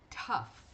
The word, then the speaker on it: tough: E ela é exceção porque ela é a única em que o GH tem som de F. A única dessas daqui. Então, a gente vai pronunciar tough, tough.